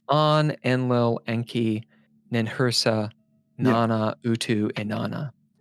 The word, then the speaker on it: Enlil: Where did you get Enlil, and how do you pronounce it, or how do you spell it?